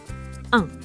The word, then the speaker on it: un: un The n is silent here.